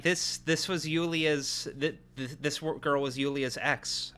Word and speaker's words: Yulia: No, it's pronounced Yulia, actually.